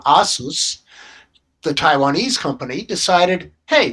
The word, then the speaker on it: ASUS: I hobbyists complained and the company which we pronounce Asus but that company pronounces its own name Asus the Taiwanese company decided hey there's enough of